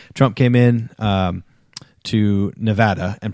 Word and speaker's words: Nevada: actually uh Casey also pointed out that I mispronounced Nevada I said Nevada and it apparently is correctly pronounced Nevada he corrected the genius no that's taking it